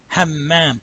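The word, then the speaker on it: حمام: Hammam. Now remember, you're pronouncing the meme twice, right? Because the Shadda, right?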